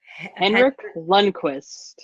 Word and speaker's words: Henrik Lundqvist: the Rangers goalie, but I have no idea how to pronounce his name. Henrik Lundqvist.